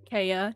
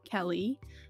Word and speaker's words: Kéllee: It's pronounced Kéllee, not Kellee.